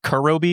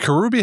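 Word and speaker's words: Kuroobi: No, I actually It's interesting that you think that is it Kurobi? Is that how you pronounce it? Kurubi. Yeah, Kurubi.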